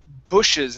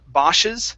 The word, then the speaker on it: bushes: here this word here is pronounced bushes instead of boses ba it's B bushes bushes bushes uhhuh one